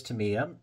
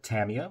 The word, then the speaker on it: Tamiya: this type of paint this is Tamiya or Tamia whichever way you'd prefer to uh pronounce it uh cost wise